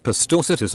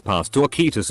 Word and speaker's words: Pastorcitas: I said the soft C is pronounced like an S. An old lady in the group said it was pronounced like the CH in cheese. I said you're thinking of Italian. In Spanish it's pronounced as an S, or in many European Spanish dialects like a th.